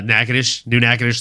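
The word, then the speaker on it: Natchitoches: like having lived in a city like uh nacadish new nadish Louisiana which is spelled Naches um you know you don't want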